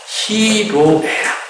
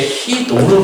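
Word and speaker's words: 희로애락: 히로에라. 저 배울 때는 이게 히노로 배웠거든요. 근데 히로가 발음상 한국말이 맞는 거예요. 요즘에 히로에락이라고 이야기해요.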